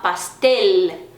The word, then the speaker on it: pastel: e sim um bolo, eu não vou falar pastel ou pastel, eu vou falar pastel. Ele tem que pronunciar o L, não é som de U.